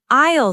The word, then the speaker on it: aisle: An aisle seat is the seat next to the aisle. That's the walkway where people walk. Remember, A-I-S-L-E, but you say it like aisle.